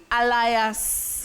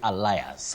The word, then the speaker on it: alias: a l i a s is it bet Alias skand or how do we say that word how do you pronounce that word bety many people innocently say allias allias w Betty allias so and so but